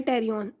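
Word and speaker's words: pterion: एक हमारे पास पॉइंट होता है टेरियन, पी साइलेंट है इसके अंदर, ये पॉइंट है बेसिकली जहाँ पे 4 सूचर्स आके मीट करते हैं उसे हम कहते हैं टेरियन।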